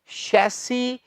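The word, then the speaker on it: chassis: शैसी होता है इसका उच्चारण मेरे भाई, क्या है ये?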